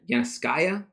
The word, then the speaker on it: Yanovskaya: is i always butcher your last name yana skya yeah awesome go me i remember i'll say